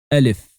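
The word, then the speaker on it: ألف: Alif is looking like the Empire State Building, as you can see here, and it sounds like the E of the word empire in Empire State Building. So you say Alif.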